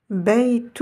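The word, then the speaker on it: بيت: Beitu. Vous voyez que là, j'ai la lettre Ya. Elle se prononcera I. Bei. Beitu. Beitu.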